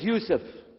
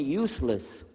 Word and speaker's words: Yusuf: we'll work on itah my name is Yousef can you say Yousef you say Yousef very good I wish You' teach my wife she keeps mispronouncing it she calls me useless alhamdulillah now how